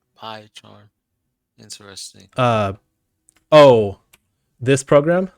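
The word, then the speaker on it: PyCharm: Oh, it's spelled P-Y, pie charm.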